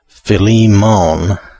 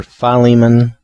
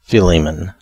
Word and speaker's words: Philemon: not totally correct so the accepted pronunciations appear to be either philemon or philemon and that's that's the way